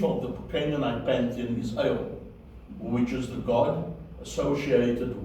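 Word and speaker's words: אל: Okay, so you hear the S sound, which is lengthened, because Aleph is silent, Tzere is a long S sound, which is A, and then you finish it off with a Lamed. You put that together, El is the word for God.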